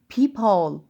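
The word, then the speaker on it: peephole: هنا كأني قسمت الكلمة نصين، كأني قسمتها نصين ونطقتها مقطعين. peep hole.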